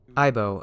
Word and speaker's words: Aibo: Aibo, a phrase which sounds alike to the Japanese pronunciation of partner or pal, was what Sony decided to call their newest advancement in robotics.